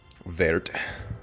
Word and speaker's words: wort: So at this point, it's called Wort. It's spelled like wort, W-O-R-T, and you really got to get in there with your Wort. But a lot of people just call it Wort.